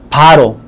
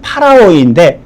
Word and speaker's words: 파라오: 이집트를 다스렸던 그 왕 우리는 바로 정확한 발음으로론 파라오인데 파라오는 사람의 이름이 아니에요.